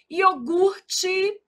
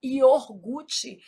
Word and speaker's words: iogurte: Iogurte. O R é aqui, a gente às vezes desloca esse R, fala iorgute. Isso é um erro de ortoépia.